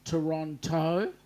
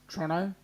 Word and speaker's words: Toronto: come on down Rob it's pronounced Toronto because it is it's got the T in there it's Toronto yeah not like you lazy conects Toronto and obviously he would